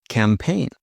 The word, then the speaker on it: campaign: Silent G often comes before N. Sign. For example, sign your name on paper with a pen. You might sign your name. Sign. Design. Design. Foreign. Foreign. Foreign means from a different country. You might speak a foreign language, which is a language from a different country. Foreign. Foreign. Campaign. Election campaign. Marketing campaign. Campaign.